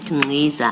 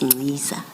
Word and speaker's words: Ngqiza: And then in the spirit of the chair of corrections, you said Ngqiza. I now know it's Ngqiza.